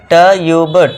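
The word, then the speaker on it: tube: जब किसी वर्ड में यू आए और यू के बाद एक कॉन्सोनेंट को छोड़कर इ आए तो आपको यू को यू से पढ़ना है। यू के बाद कॉन्सोनेंट भी आ गया और लास्ट में इ है। आपको इ का रूल बताया है। इ को साइलेंट रखना है।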